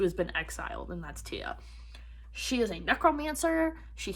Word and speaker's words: Tea: realize that's how you say her name because it's spelled t-e-a so i was saying like tea or tea it's tia um in this language that they have we're